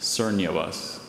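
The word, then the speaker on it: cernuous: Are there any alternate pronunciations? Just sernuous.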